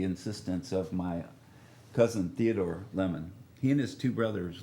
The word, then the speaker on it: Lamon: have with us in the studio ward hill lemon name is ward hill lemon spelled l-a-m-o-n i was born january the 6th